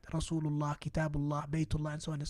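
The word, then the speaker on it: كتاب الله: But now when we say Kitabullah, we get rid of the noon or the tanween, which basically is the extra noon that we pronounce.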